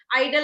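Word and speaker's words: idol: आइडल, आइडल का ठीक है, ये होता है आइडियल, तो थोड़ा सा चेंज हो जाता है EAL की वजह से।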